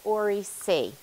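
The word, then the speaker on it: oriC: So when we're talking about chromosomal replication, that ORI is always called ORI-C. Just in case my accent makes me a little hard to understand. ORI-C.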